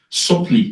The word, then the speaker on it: subtly: but to what extent Though subtly it is not pronounced subtly to what extent do